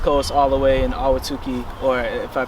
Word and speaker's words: Ahwatukee: to the West Coast all the way in Ahwatukee, or if I pronounced that right. Yeah, that was right. Yeah, Ahwatukee, Arizona.